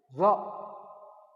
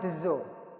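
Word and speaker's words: ظ: Zo. Ini apa bacanya ini? Iya dezo. Ini bacanya dezo, ini huruf dezo. Bukan dezo. Ini zo.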